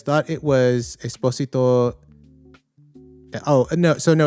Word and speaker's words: Esposito: Um and then if uh you can pronounce the s like a z if you want to.